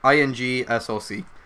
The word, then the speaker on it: Ingsoc: No, Ingsoc with a INGSOC. Ingsoc. There's no other way to pronounce that.